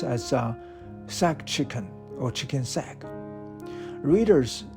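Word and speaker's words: saag: The dish is a spinach chicken, pronounced as sack chicken or chicken sack.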